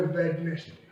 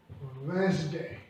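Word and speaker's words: Wednesday: उच्चारण है वो है वेडनेसडे। ज्यादातर वेडनेसडे बोलते हैं, ये गलत प्रोनाउंसिएशन है। राइट प्रोनाउंसिएशन है वेंसडे।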